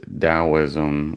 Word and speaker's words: Daoism: So Europeans heard T, but we actually pronounce it with a D.